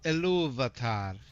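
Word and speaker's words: Ilúvatar: It's Iluvatar. I don't know where Iluvatar came from, but the R is pronounced in that. Iluvatar. It's a short R though when you're speaking Quenya based versus Sindarin.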